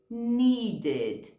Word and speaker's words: needed: Need, que já termina em D, needed, needed, ok?